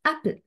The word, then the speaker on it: apple: So the word apple, the primary stress is on pill, apple, and a is a weak stress.